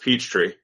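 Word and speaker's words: Peachtree: in Atlanta Georgia yes you have to say it that way Jah it's pronounced Peach Tree I've been there which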